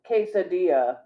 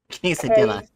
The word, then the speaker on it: quesadilla: Those two L's together are literally its own letter.